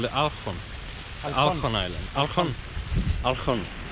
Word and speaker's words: Olkhon: Island, is called the Olkhon. Olkhon Island. Olkhon. Seems like when they have the O's, they pronounce it when the syllable is stressed, you have an A instead of an O.